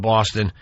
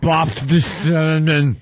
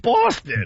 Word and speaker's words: Boston: Boffiston. He put an F in it. Put an F in Boston. What an F-hole. How do you put an F in the word Boston?